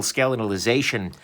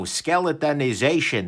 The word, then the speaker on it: skeletonization: amount of the internal skeletal ization Wow skeletonization that's how you pronounce that of the line is